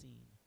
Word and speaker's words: Sin: is her name spelled like sin but it's pronounced scen so his whole life was centered around this